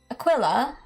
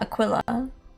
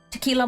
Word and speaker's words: Aquila: I've heard so many people pronounce it like tequila. Tequila mockingb bird. What? Like aquila. Obviously it's pronounced Akila.